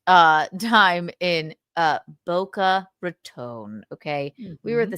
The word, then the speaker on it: Boca Raton: Is it Rton or is it Raton? Bo. This is why this is why I didn't know what to say. I didn't know how to say it until somebody said tone like I don't like your tone, Missy. Yeah. So, Boca Ratone.